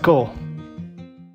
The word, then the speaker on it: CORPS: It's pronounced Kaur.